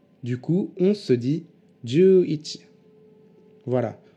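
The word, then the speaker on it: 十一: Du coup, 11 se dit juichi. Voilà, on colle simplement les deux kanji de 10 et de 1 et on les prononce à la suite.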